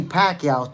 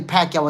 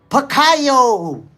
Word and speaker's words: Pacquiao: In fact, yo, the announcer was like, "Manny Pacquao." Yeah, Manny Pacquao. They was calling him Manny Pacquao. They didn't even know how to pronounce his name at the time.